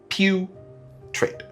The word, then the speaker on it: putrid: It's pronounced pew trid.